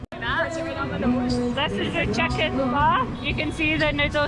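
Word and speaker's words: phở: It's spelled like pho, but it's pronounced pho.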